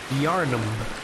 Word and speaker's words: Yharnam: pushing Thank You Sakura yharnam but it is spelled like yarn ham I gotta I gotta